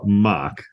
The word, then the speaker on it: Mach: a special guest her name is Dr mock did I pronounce that right you did good job I